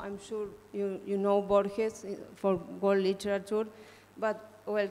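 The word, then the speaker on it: Borges: I'm so sorry okay how is it pronounced bores in Spanish bores bores uhuh Lis bores okay thank you okay I'm sure everybody called him bges only yeah uh good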